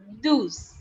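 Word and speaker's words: douze: it is written down as d-o-u-z-e which is pronounced as deuce the next number is 13 and 13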